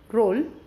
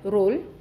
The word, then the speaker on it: roll: R O double L roll, P O double L pole, T O double L toll, and D O double L doll.